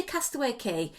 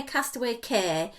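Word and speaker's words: Castaway Cay: i always say well i say castaway key but the americans say castaway care and i'm confused or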